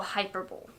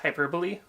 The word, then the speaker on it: hyperbole: day those are all hyperb I assume you meant hyperbole oh that's how you pronounce it I read in a